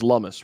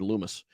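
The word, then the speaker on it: Lummis: there's anything else senator lummus uh it is lumis rhymes with hummus i always said loomis herself asserted that the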